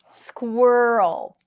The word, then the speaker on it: squirrel: so first of all there is a cluster at the beginning for speakers of many